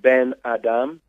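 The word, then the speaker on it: בן אדם: means son of man yes ebru in Hebrews pronounced been Adam ok and translated to English its son of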